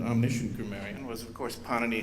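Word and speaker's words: Pāṇini: Garian was of course panani himself and please notice the accent on the first syllable we're not talking Italian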